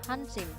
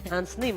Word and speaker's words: Hansnim: Bacanya Hansnim atau Hansim? Hansim. Hansnim. Hansnim ya. Hansnim, yes. Bukan Hansip ya. Bukan juga anonim.